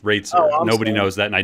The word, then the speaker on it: Roetzer: is um so my my last name is actually pronounced rates nobody knows that and